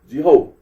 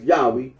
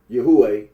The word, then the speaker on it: Yahweh: can be little doubt that it is not Jehovah marp honor remarks that certain conclusions drawn from pronunciation of as Yahweh would be valid even if the scholarly consens